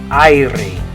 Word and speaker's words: aire: In English, we'd say air. In Spanish, it's spelled like this. And the way you're going to say it is aire.